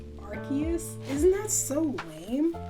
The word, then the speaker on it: Arceus: love him so much did you know it's pronounced arceus isn't that so lame it's like gift word